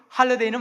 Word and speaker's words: holiday: 바로 할러데이라는 말입니다. 여러분, 이 할러데이가 홀리데이 잘 보십시오. 여러분, 스펠링 하나 차이입니다. 그렇죠? 홀리데이는 HOLYDAY이고요. 할러데이는 뭡니까? HOLIDAY입니다.